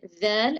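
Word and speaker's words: ذال: That's the difference between dhal and tha. Dhal. Dal. Make a sharper sound. Dhal. Dal. The sound. Like when we say the, in English we say this. That's the sound you need to Dal.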